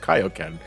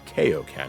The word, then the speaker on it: Kaioken: threw me off because they actually pronounced it as kaio ken and not kao ken and i thought you